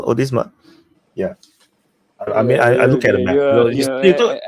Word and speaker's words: Odisha: come again yeah odma is it is it pronounced odisa yeah I I at accent your accent is